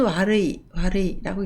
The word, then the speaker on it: 悪い: 그리고 혐오를 갱오, 갱오라고 읽습니다. 혼독은 와르이라고 읽습니다.